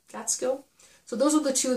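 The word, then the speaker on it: Gaitskill: and the one by mary gets gateskill about how you pronounce her name catskill so those are the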